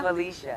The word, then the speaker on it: Phylisia: normalement, on doit le dire Félicia, c'est ça? Felicia. C'est bon ça. On y arrive. Exactement, Parfait. Felicia.